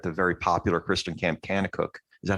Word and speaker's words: Kanakuk: that occurred at the very popular Christian camp Kanakuk.